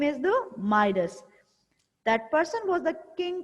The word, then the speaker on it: Midas: इसको आप प्रोनाउंस कैसे करेंगे? माइडस.